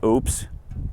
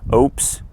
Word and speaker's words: Oupes: so this company probably going to mispronounce this i'm going to say oops but it's o-u-p-e-s oops i guess so again this